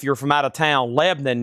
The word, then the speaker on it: Lebanon: Lebanon if you're from out of town. Lebanon if you're local. one syllable. Lebanon southern accent pronunciation that is about a half hour east of Nashville.